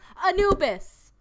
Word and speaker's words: Anubis: you all can hear that is how you pronounce Anubis are you kidding me see